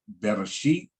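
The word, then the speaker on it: בראשית: For example, we got the Bereshit, pronounce it as Bereshit, and then they translated it in English, in the beginning.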